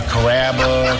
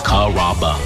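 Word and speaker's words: Carrabba: You know, Kaba, Kamaba, Kamba. It's a really easy name to pronounce. It's Karaba.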